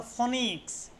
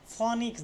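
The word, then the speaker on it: phoenix: দেখো শব্দস্থিত ও ই এর উচ্চারণ হয় দীর্ঘই। কোন শব্দের মধ্যে যদি ওই থাকে তাহলে সেটা কিসের উচ্চারণ হয়? সেটার উচ্চারণ দীর্ঘইর মত হয়। মনে রাখবে। হ্যা। যেমন ধর ফনিক্স। ফনিক্স দীর্ঘই। ওইটা দীর্ঘর মত উচ্চারণ আছে।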